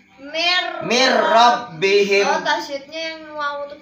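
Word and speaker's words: مِن رَّبِّهِم: Artinya nun sukun bertemu dengan ro. Dibacanya dimasukkan jadinya mir rabbihim.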